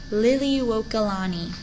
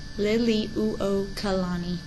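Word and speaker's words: Liliuokalani: want the current Hawaiian Monarch was the queen Lily walani Lily uani and that is spelled l i l i uo k a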